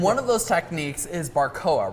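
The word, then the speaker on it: barbacoa: Um, and one of those techniques is barcoa, right? Is that how you pronounce it? Barbcoa.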